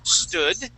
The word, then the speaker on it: stood: So we're going to practice these words and practice not adding an E at the beginning of the word. So we had stood, or the word is stood, okay, and we had storm, which you would pronounce storm, okay?